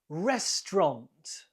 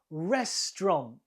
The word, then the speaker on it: restaurant: number two how do you say this word restaurant restaurant two syllables the stresses on the first one restaurant three post office post office the first word